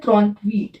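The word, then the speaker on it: trente-huit: 38 को बोलते हैं त्रॉन्त वीट। इसको त्रॉन्त, इसको वीट, साथ में मिला के क्या हुआ? त्रॉन्त वीट।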